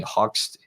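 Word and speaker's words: Hoechst: these German chemical companies Bayer and hoax being hoxed sorry h-o-c-h-s-t is how you pronounce that there's a little Mark a little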